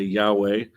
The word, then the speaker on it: Yahweh: Because of Nehemiah, we can pronounce the name of God. And so when we encounter this, we can say Yahweh.